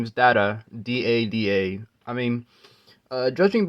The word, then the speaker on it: Dada: it in the show I'm assuming you're supposed to say it fast like data you know because that's you know that's kind of how I hear it because if you